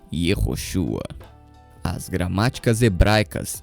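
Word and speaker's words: יהושע: O nome termina com a consoante gutural Ain, acompanhado de um patar furtivo, que dita a pronúncia final em Ua, ficando assim Yehoshua.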